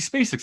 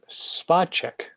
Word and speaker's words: Spacek: So jumping into it and actually uncovering what the story beats are, and me being like, oh, Sissy Spacek's in this.